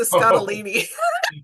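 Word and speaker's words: Scottoline: She says it rhymes with weenie. So, Lisa Scottini.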